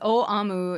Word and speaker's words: Aum: Yeah, and it's actually it's pronounced O Amu in Japanese, but it's and it's usually rendered as in English as supreme truth.